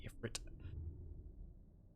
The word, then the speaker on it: Ifrit: I've seen both ways spelling it. I think in game it's spelled E-F-R-T, Ifrit, but I've also seen it spelled Ifrit, I-F-R-E-E-T. So, I think it's one of those things where it's sort of pronounced halfway between.